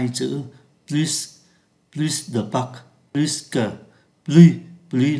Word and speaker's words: plus: từ và trạng từ, thì chúng ta đọc là plus, không phát âm ký tự S, plus, không phát âm ký tự S. Khi so sánh danh từ, thì chúng ta có plus de que, ký tự S phải